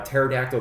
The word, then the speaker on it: pterodactyl: the to the bathroom because his pee is silent you have to know how to spell pterodactyl to understand that joke so if you don't go ahead and try to spell it in Google and it'll help you out because the p is silent again haha so that's all